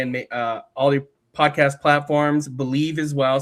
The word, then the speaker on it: Bleav: Believe as well. So it's BLEAV, I believe is how you spell it, but it's pronounced Believe.